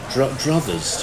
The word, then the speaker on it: druthers: And little and druthers. Do you know that word, druthers? Druthers, Like no. brothers with a D at the front.